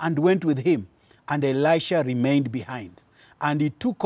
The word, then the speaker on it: Elisha: i pronounce it well yes elisha not elijah the first one was elijah now we are talk